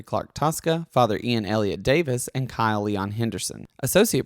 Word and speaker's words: Davies: At Canon Ian Davis, And and it's- it's spelled Davies, Oh, but yes. it's Davis.